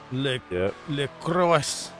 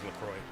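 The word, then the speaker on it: LaCroix: Lacrosse. Lacro. I could never pronounce it as a kid. I didn't know it was Lacroy.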